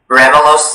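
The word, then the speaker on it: ramulose: Ramelos is the only pronunciation.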